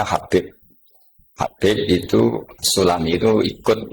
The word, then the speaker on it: Habib: Itu di harakatnya kitab itu ada yang nulis subab. Tapi yang benar Oh, nggih. Yang benar itu bacanya Habib.